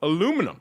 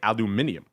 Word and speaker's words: aluminium: Again, another metal we don't talk about very often, aluminum, or as you Brits say, aluminium.